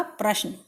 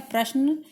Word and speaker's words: प्रश्न: करके बताती हैं कि पहला शब्द आपका प्रश्न यह सही उच्चारण है प्रश्न लेकिन कुछ लोग उसे परेशान भी कहते हैं जो की बिल्कुल गलत है नेक्स्ट है आपका क्रम